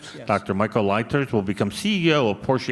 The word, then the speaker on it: Leiters: Michael, how do you pronounce this, Bob? This German, Leiters? Yes. Dr. Michael Leiters will become CEO of Porsche AG on January 1st.